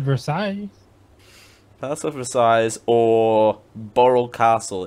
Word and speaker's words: Versailles: it is verse either you don't pronounce the S oh I thought it